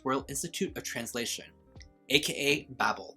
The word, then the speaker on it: Babel: institute of translation aka babble i've also heard this book being pronounced as babel which i think is just really cute because it sounds like babe i don't know that